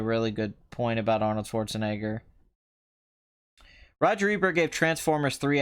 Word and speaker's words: Schwarzenegger: there really same with Schwarzenegger he himself pronounces his name the American Way when he is not when he is not in Germany or Austria yeah he does do